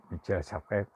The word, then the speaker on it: Michel Serres: El contrato natural, Michel Serres se escribe, pero es Michel Serres en francés.